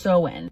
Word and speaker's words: Samhain: Halloween before it was Halloween was called Samhain, pronounced Samhain.